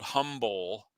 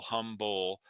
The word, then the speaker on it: Humbowl: And they have started a business called Humble, but it's spelled Humbowl, Humble.